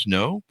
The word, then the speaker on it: SNO: It's called The Image: A Quantum Portal Has Open, part of the SN O Chronicles, pronounced snow.